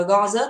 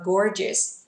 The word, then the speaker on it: gorgeous: Từ đây không đọc là gorgeous, đọc là gore, vì miệng chúng ta sẽ tròn lại một chút. Từ đây đọc là gorgeous.